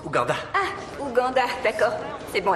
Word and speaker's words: Ouganda: Ça se prononce Ouganda.